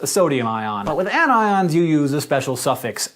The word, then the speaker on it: anions: become negative are anions you'll notice despite the rules of English that these are pronounced cations and anions not patient's and anyons the most basic ions